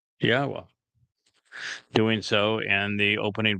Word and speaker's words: Yahweh: It's a significant accomplishment since I painstakingly explain how one can prove that it is in fact pronounced Yahweh.